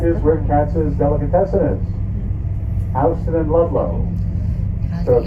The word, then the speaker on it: Houston: Houston is the correct pronunciation. Çıktığımız yer. You may see it and want to say Houston. Tek Don't. olarak. If you say Houston, you are out of town.